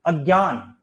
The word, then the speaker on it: अज्ञान: अज्ञान ये संस्कृत का शब्द है, जिसे हम अज्ञान बोलते हैं, क्योंकि ज और य से बनता है, ठीक है, शुद्ध उच्चारण तो यही है इसका।